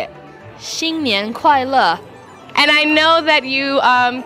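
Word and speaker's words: 新年好: Xīnnián hǎo.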